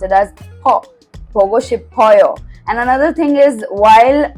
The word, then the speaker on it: 싶어요: But actually in Korean there's a rule: when shiot is followed by E, instead of pronouncing it as C, you pronounce it as she, which is why it becomes 싶어요, 보고 싶어요, and not 보고 싶어요, right?